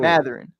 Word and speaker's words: Mathurin: Mathurin, pardon me. I never seen that name before. So hey, you're gonna have to learn about him though. Benedict Mathurin.